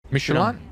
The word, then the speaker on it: Michelin: No, Michelin, not Michelin. Michelin. You are in a French car. That's you fucking respect the French way.